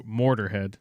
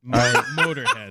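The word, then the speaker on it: Motörhead: Mo Mortarhead. Okay. It's spelled It's spelled interestingly. Chris probably knows cuz I know Motorhead. They should not be allowed to be Mortarhead. Motorhead.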